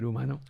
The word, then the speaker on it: Humano: No pronunciation of the H, but Humano.